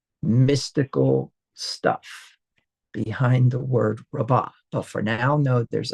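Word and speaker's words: רבה: second to last syllable it most likely will be hard as well which means rabba not rava is how you would pronounce that word.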